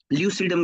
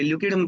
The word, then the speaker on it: lucidum: अलग अलग प्रोनाउंसिएशन है, कहीं पे लोग इसको ल्यूसीडम कहते हैं, कहीं पे ल्यूकीडम कहते हैं।